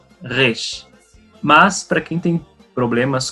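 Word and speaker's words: ריש: Então, a letra Resh, ela é pronunciada com a garganta, é um R bem diferente, Resh.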